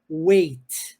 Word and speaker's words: weight: mas o substantivo peso aí a palavra é Wei Wei Beleza então existe essa diferença Eu tenho um pezinho a mais no final para falar do substantivo Way peso e o